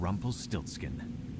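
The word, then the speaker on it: Rumpelstiltskin: to life, he gave it the name of Rumple Stiltskin. Oh, that's how you pronounce it.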